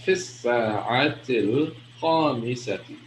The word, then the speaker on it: في الساعة الخامسة: So it's fifth is fi as-sa'a, but because of the alif lam here, all right, the lam is silent because the seen is a sun letter, all right.